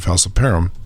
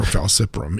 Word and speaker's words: falciparum: humans the namely plasmodium falciparum actually does this yeah or falciprum either way it's still spelled the same so um the the